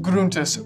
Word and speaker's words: Gruntis: Gruntis, sir. It's pronounced Gruntis. Gruntis. It's German.